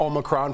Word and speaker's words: Omicron: Kohli, talk to us more about Omicron. First, am I pronouncing that right?